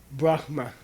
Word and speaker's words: Brahma: 都是和梵天相 Brahma 关的。 is the correct pronunciation.